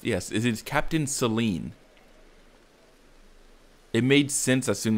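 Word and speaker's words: Cyllene: i did look up how her name is pronounced yes it is captain celine it made sense as soon as i heard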